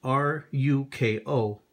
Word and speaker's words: Ruko: I've heard many times on different websites and blogs that Ruko knives, and that's pronounced R-U-K-O, or spelled R-U-K-O, pronounced Ruko, knives are garbage and that they're not good knives.